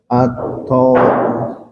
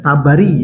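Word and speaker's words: Ath-Thabari: Biasanya kalau tho itu tidak jadi o tetapi tha ha gitu. Iya. O, yang paham tapi kalau yang tidak bisa baca Arab pasti bacanya Tabari ya. Nah. Padahal yang tepat adalah At Thabari.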